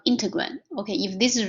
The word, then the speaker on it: integrand: So the inside the derivative function is called integrand. Okay, if this is wrong, I'll change it. But for now, just remember the pronunciation, integrand.